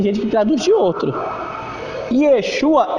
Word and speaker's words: Yeshua: Yeshua é bem simplesinho assim, Yeshua.